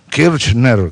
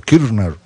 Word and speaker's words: Kirchner: che tanto así Fidel kirchner kirner no se pronuncia la che No mucho es como como muda pero fideles se empeñaba